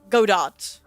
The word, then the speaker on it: Godot: The T is silent. No, Godot. Godot is also a really